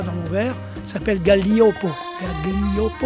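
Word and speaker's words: Gaglioppo: Galliopo, on prononce Galliopo.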